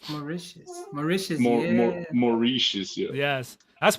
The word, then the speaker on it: Mauritius: I used to say maritus. Maritus. But it's pronounced. Maicius.